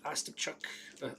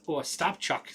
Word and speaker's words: Ostapchuk: Sabres, Ostapchuk. Stopchuk. There we go. Put the wrong syllable on the wrong emphasis on the wrong syllable there.